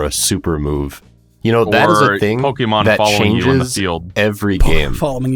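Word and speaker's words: Pokémon: these commercials pronounce it Pokemon because I know that's how it's actually supposed to be pronounced because there's an accent on the E but nobody I have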